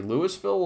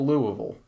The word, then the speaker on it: Louisville: Do you say Louisville or Louisville? Or do you say it as the natives say it, Louisville?